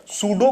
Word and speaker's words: pseudo: तो यह बात समझिए इस सूबे में पिन जो है साइलेंट होता है मतलब अगर हम स्पेयरिंग की बात करें इस पीलिंग स्पीड स्टार्ट होती है लेकिन हम बोलते हैं सूडो एपीएसयू डीओसी मोड की